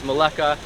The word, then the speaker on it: Melaka: this beautiful city called malacca also known as maleka they're spelled kind of different and both spellings and pronunciations work and we are here